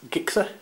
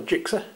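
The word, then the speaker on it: Gixxer: Lee 76 Gixer, or Jixer, depending on how you want to pronounce it.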